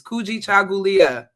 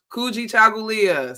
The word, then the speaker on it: Kujichagulia: All right, this is an important one, Kujichagulia, which is today. I know that is a difficult word. It's hard for some people. It is Kujichagulia. You can say it where you are. Kujichagulia.